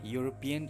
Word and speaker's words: European: uncle is a pilot sometimes the first letter in a wood may be a vowel with a consonant sound or a consonant with a vowel sound for example university european and uniforms have the airsound at the beginning so we say a university a european a uniformed similarly the words